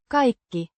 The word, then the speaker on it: kaikki: Kiki, a noun meaning everything or all pronounced Kiki with the stress on the first syllable and it sounds like kai with a slight dip thong I sound.